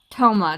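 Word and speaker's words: Thoma: oh except to you toma toma that's how you say his name okay you must be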